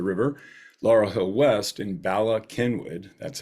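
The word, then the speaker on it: Bala Cynwyd: down at the river Laurel Hill West in Bala Kenwood that's how that's pronounced that is in Montgomery County just outside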